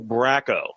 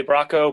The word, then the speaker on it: Bracco: and uh today's guest is writer illustrator Bracco that's am I pronouncing that right uh yeah um yeah absolutely Bronco braco people yeah Bronco Rocco's Modern Life no